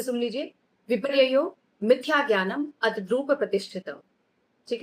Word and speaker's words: विपर्ययो: इसी के अकॉर्डिंग आपको उच्चारण करना है। आप संधि विच्छेद करके इसको पढ़ सकते हैं। फिर से सुन लीजिए। विपर्ययो मिथ्या ज्ञानम अद्रूप प्रतिष्ठित।